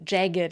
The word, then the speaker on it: jagged: Or they have a hard G sound before the ed. For example, ragged, rugged, jagged, and dogged.